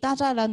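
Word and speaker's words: 大栅栏: 근데 그 짜란이라는 단어가 난간인데 북경에 가시게 되면 짜란이라는 발음이 아니라 따샤란처럼 스 발음으로 발음을 하는 것을 들으실 수가 있고 그 이유는 그게 청나라 때 만주족 사람들의 그 방언이 남아서 그런 거다.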